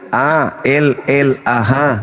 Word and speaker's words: Allah: Itu A-L-L-A-H. Itu ada. Ya. Itu bacanya apa? Allah. Karena ini berasal dari Quran, maka kami membacanya Allah.